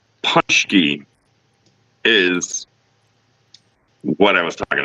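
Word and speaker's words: Pączki: He has a great way of putting in how to pronounce stuff, and I always screw it up. And he's correct. Punchki is what I was talking about.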